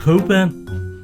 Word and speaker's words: Cockburn: The CK is silent. Spel burn but pronounced coburn.